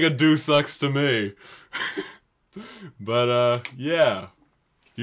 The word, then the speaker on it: Deus Ex: And today's gaming term pronunciation of the week is Deus Ex, commonly pronounced as Deuce Ex, or whatever else I have never heard it called Deus Ex.